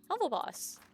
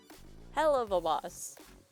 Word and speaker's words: Helluva Boss: that came out before the official series did… Heva Boss! 'Heva Boss?' Hell-uv-a Boss There we go Here’s just a brief rundown